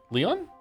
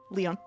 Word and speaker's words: Lion: Leon. Leon. Like a French Leon.